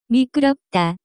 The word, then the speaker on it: 미끄럽다: The pronunciation of this word is closer to. 미끄럽다.